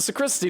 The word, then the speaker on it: sacristy: How was the sacristy today, Matthew? The same as yesterday. Does my vocation seem silly to you, Master Mailer? Absolutely not. You think it's pronounced sacristy? Okay. Sacristy. Okay. Like Socrates.